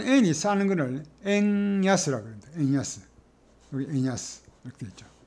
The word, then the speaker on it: 円安: 엔야스 여기 엔야스 이렇게 되어있죠. 엔야스 음과 훈을 읽었습니다.